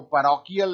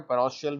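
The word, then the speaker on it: parochial: पैरोशियल इसको लोग वैसे तो पढ़ते हैं, लेकिन इसका एक्चुअल प्रोनाउंसिएशन जो है वो पैरोकियल है, ध्यान रखिएगा, पैरोकियल है ना, लेकिन बोलचाल की भाषा में पैरोशियल भी कहा जाता है।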